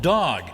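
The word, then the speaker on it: Dogue: the place it's called dog now it's spelled d-o-g-u-e in French that would be pronounced dog it caters to our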